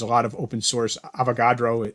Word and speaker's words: Avogadro: Avogadro, I think, is the pronunciation of it.